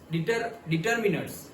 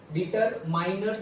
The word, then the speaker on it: determiners: तो डिटरमिनर्स okay, और से डिटरमाइनर्स भी कई लोग प्रोनाउंस करते हैं। पहले डिटरमाइनर्स प्रोनाउंस करते थे और अब डिटरमिनर्स प्रोवाइड करते हैं। क्या? डिटरमिनर्स प्रोवाइड करते हैं, पहले डिटरमाइनर्स प्रोवाइड करते थे।